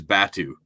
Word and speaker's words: Batu: He's going up, and his name's Batu is how you pronounce his name.